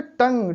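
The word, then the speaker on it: tongue: जैसे टंग, टी ओ एन जी यू ई। अब यहाँ पे देखिए टी ओ एन जी, टंग, इतने का उच्चारण, यू का यहाँ पे उच्चारण नहीं है।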